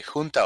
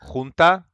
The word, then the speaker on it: junta: say junta like the strong J, and I don't know